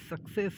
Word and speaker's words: success: And this is success, this is ka and this is sa, okay. First C become ka and the second C becomes sa.